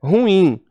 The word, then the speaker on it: ruim: Nada de rúbrica, porque rúbrica seria proparoxítona, ela é paroxítona, rubrica, e é ruim. A palavra oxítona, e as pessoas pronunciam como paroxítona. Ruim, não é ruim, é ruim.